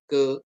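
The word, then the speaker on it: καί: dan sering ada dan kalau dalam bahasa Yunani itu ditulis ke ke ke Kai tulisannya Kai ya bacanya ke ke ke gitu ya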